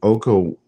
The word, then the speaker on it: Okonkwo: I can't even pronounce his name. Okonkwo.